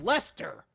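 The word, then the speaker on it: Leicester: How the does L E I C E S T E R How is that pronounced Lester?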